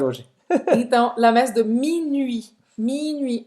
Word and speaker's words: minuit: Presta atenção nessa pronúncia, tá? Minuit. Não vai falar esse T no final, né? Minuit. E esse U é o U francês, tá? Faz a boca do U e fala aí. Tem que fazer o bico mesmo.